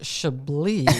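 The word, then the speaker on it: Chablis: Uh, we pronounced Shabi, sir.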